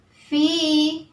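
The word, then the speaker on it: فِي: Karena ada kasroh diikuti dengan ya sukun di kalimat fi di.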